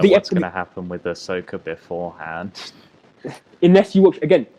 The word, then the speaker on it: Ahsoka: How do you pronounce it? Ahsoka. I was going to say Osaka, but that's a place in Japan.